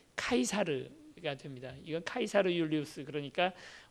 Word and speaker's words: 카이사르: 카이사르라는 말은 이제 우리는 잘못 발음을 해서 영어식 발음을 하느라고 시저라고 알고 있지만, 시저의 원래 그 발음이 카이사르가 됩니다.